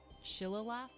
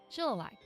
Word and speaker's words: Shillelagh: The ancient Dooley Shillalagh? Shillelagh.